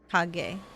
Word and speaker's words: Kage: G as in goal. Okay. Yeah, I think that's the hard G. Kage.